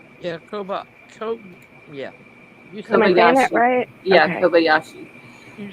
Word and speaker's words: Kobayashi: think I'm saying her last name right Co Kobayashi yeah Koba yeah yeah kobashi you said it right oh wait metam mom